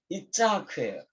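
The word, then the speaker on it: יצחק: 이삭의 원래 그 시브리어 발음이 뭐냐면 이 짜하크예요.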